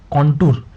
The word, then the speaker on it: contour: काउंटर means noun, और इसका pronunciation किस तरीके से करते हैं, कॉन्टूर इसको बोल सकते हैं।